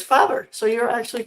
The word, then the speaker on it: Faber: correct didn't I so we we've been saying favor and we've been saying it wrong all the time because when we went to Austria we discovered it is father so you're actually correct